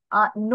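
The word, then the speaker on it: know: তারপর তুমি ধরো নো বানান, যেটার অর্থ হচ্ছে জানা, সেই বানানটা কিন্তু শুরু হয় কে দিয়ে, কে এন ও ডাব্লিউ।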